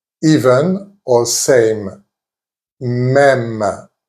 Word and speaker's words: même: Même, even or same. Même. As you can hear, the pronunciation is the same as the E with an accent grave.